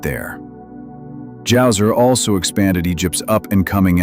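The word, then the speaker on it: Djoser: The third dynasty kicked off with King Jouer. Immediately we see the resourcefulness of the Egyptians because not only did they invent paper and build the pyramids, but they also introduced the silent letter.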